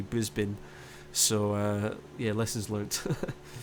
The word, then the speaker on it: Brisbane: to Brisbane but me me being English and like pronouncing it as a sort I said Brisbane which is apparently not correct it's actually Brisbane so uh yeah Lessons